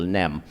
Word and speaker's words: nem: sentence together in Hungarian it is easier to say no always because it is one syllable nem where is to say